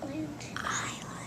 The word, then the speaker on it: island: water of SE is island island is those it looks like it's a weird word it is it's IR regular for sure that's a silent s isn't it so we know we